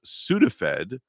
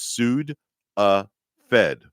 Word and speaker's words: Sudafed: The word is Sudafed, and then we'll separate it by syllables. It's Sud-a-fed. Ah, okay. Sud-a-fed. Like suing a federal agent or something.